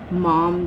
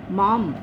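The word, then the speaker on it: माम्: अनन्ये नैव योगेन माम ध्यायन्त उपासते। अब बहुत से इसको माँ बोलेंगे, नहीं, माम, होंठ बंद होते हैं, ऊपर बिंदी है, ये आधे म का उच्चारण है यहाँ पर।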